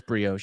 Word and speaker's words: brioche: It is brioche.